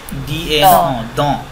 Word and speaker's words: dans: না, dans না madame, এটা এ silent, dans, dans le ciel, মানে étoile মানে স্টার, হ্যাঁ।